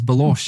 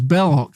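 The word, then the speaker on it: Belloq: laughing at him because he can't pronounce Bellock and he goes Balos and he goes and he just goes into his face and know it's Block is you know but you buy you buy it, you know.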